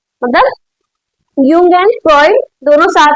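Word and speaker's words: Jung: Aspiration given by Karl यंग। आई am talking like I am telling about name यंग नॉट जंग। सब लोग इसको जंग जंग करने लगते हैं। नहीं ये यंग है। जे इज़ अ साइलेंट बॉडी।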